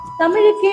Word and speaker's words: தமிழ்: நாக்கு நேரா உங்க அண்ணத்தை தொடணும். சரியா நேரா இருக்கணும். இந்த மூணு எழுத்தும் சண்டை போட்டுக்குதுன்னு சொன்னேன்ல இனிமே சண்டையே கிடையாது. நுனி ல மடக்கு ல சிறப்பு ழ இப்படி உச்சரிச்சு பாருங்க சரியா இருக்கும். இப்ப உங்க எல்லாருக்கும் ஒரு பயிற்சி வைக்கலாமா?